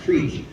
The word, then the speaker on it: crick: And I may lose some supporters on this one, but crick is actually pronounced creek.